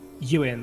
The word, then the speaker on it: Ewan: Ewan, like Ewan McGregor.